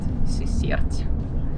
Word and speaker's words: Сысерть: мы направляемся в город Сысерть Сначала думаю что ударение на ы у меня исправили СССР да наверное ударение Александр не так